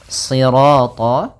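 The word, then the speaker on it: صراط: Kemudian pada lafal sirat ya kembali lagi di sini shadnya tebal jangan dibaca dengan huruf sin.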